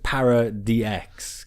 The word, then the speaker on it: Paradox: It's pronounced Paradox, it's Para-DX.